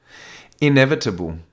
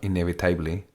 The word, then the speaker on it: inevitable: Inevitable. Again, pronunciation here. It's got a neutra. It's not inevitably. It's inevitable. Inevitable. So we use the There's two neutrals. We call the neutra in English the schwa.